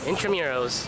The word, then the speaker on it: Intramuros: Intramuros.